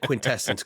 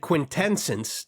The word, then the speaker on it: quintessence: One out of one out of the three times you said quintessence correctly. You said quintensence twice and then you said quintessence.